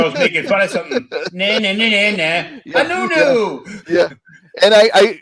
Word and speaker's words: Anuenue: Anuenue. Yeah. And I like right on the left of it, I pronounce it phonetically, or like nu next to the you'll see it underneath the picture over here.